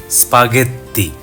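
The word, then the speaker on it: spaghetti: জি এর পরে যখন ই এবং আই বসে তখন উচ্চারণটা হবে বর্গীয় জ। অন্য ক্ষেত্রে গ ধরে নেবেন, যেমন এখানে স্পাগেত্তি।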